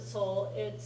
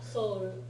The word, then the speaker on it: Seoul: じゃあ Yeah, the E in that Seoul is silent.